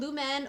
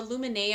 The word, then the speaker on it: Lumene: But this is the lumene or lumine, I've heard it pronounced both ways.